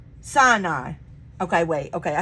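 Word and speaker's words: Sinai: flock far into the Wilderness and came to saai SI okay wait okay I said it wrong the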